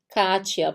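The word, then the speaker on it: Katja: O J se pronuncia com som de I. Sempre, sempre. Mesmo quando a gente tiver escrito Katia e o Katia, o I depois do T escrito com J. Vai ser Katia. Por quê? Porque o I, o J tem som de I. Então aqui a gente tem IA.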